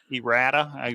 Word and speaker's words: errata: a video about errata was that how you pronounce it k-pro e rada kind of like eroticism errata okay go ahead so